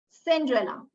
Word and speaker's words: Cinderella: This letter C will be pronounced as K when it is followed by letters other than E, I, or Y.